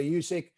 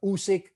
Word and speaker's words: Usyk: fight i still fancy alexander yusik or alexander usic how we pronounce it i've been i just been fluctuating between russia and britain too much yeah adopting